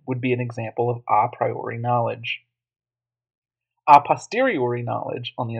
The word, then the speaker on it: a priori: word in the text you may think it's the letter A priori but a priori and aposteriori as you'll see are